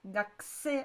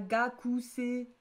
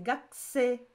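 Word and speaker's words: 学生: Il n'y a pas marqué Gakusei pour une faute, c'est que ça se prononce Gakusei. On dit pas le U, c'est pas Gakusei. Gakusei en plus. C'est Gakusei.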